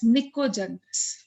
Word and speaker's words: निकोजेंस: चाल्कोजेंस, ठीक है, एंड ये वाला जो ग्रुप होता है, इसमें नाइट्रोजन फैमिली होती है, जिसको हम लोग P साइलेंट होता है, we call it एज निकोजेंस।